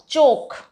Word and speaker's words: chalk: नहीं होता, फोक होता है, because L is silent here. Yoke, right, चोक, CHALK, चोक।